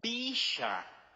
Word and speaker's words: bisha: But in Aramaic, the word is bisha. And you spell it the way it sounds.